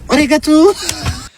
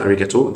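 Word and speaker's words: ありがとう: اللي بتنطق انجليزي غلط كلمه اريجاتو او اريجاتو جوزايمس في اللغه اليابانيه معناها شكرا جزيلا ما اسمهاش اوريجو ولا اسمها باي باي اوريجو تو خالص فبنعدل عليك اهو عشان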